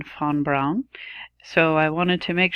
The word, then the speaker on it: von Braun: nerf on brown-brown see I always say von Braun I mean fawn Brown so I wanted to